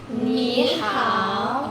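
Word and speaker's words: 你好: Oke. Bacanya itu how. Coba kalian boleh ulangi. Ni how. Oke. Ni how.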